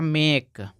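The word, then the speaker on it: make: उसको ए पढ़ते हैं ए कब पढ़ेंगे जब लास्ट में ई रहेगा इसीलिए यहां हो जाएगा मेक और एल आई के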